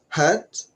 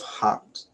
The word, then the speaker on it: heart: And then the pronunciation of the word heart, which is, someone pronounced it hurt instead of heart.